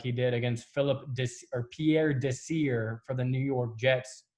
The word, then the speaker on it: Desir: he did against Pierre Desir for the New York Jets. I think it's pronounced Desiree, but yeah.